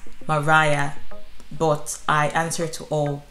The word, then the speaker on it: Mariah: so fact number one some people call me maria other people call me maria another group of people call me maria which i find quite weird anyway and the actual pronunciation of my name is mariah but i answer to